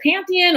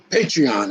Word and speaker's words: Patreon: He has the, am I saying it right? Is it Pantheon or Pandrian? No, Patreon, a Patreon page, a subscriber page.